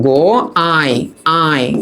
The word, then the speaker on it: গোয়ায়: তাহলে একটু দাঁড়াও, হ্যাঁ, এটার উচ্চারিত রূপটা হবে এইরকম, গো আয় আয়, হ্যাঁ, আয়। এই যে এমন, বুঝতে পারছো? কারণ আমরা জানি এই ইউ এর উচ্চারণটা আয়ের মতো হয়। কারণ এটার সাথে একটা আ আছে, তাই আয়ের মতো হইছে। তো বলতেছে এটার অর্থ কি?